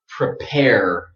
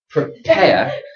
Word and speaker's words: prepare: So here it is in American English. Prepare. So very strong R in American English. But this sound here, air, that's British. British speakers don't pronounce a strong R at the end.